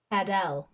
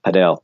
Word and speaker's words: padel: Start with pad. Pad. And now L. L. Pad. All right, now just bring them together. Padel. Nailed it. Well done. Boom. Yeah, that's just fantastic pronunciation. Padel, yes.